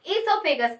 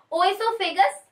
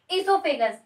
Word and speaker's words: oesophagus: इसको हम इसोफेगस बोलते हैं. ओइसोफेगस नहीं बोला जाता है. आमतौर पे लोग ओइसोफेगस बोलते हैं, बट ये इसोफेगस. क्या उच्चारण करेंगे? इसोफेगस.